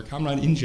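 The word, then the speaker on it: Kamran İnce: I studied with this man named Kamran Ince, or Kamran Ince, I think is how it's actually pronounced.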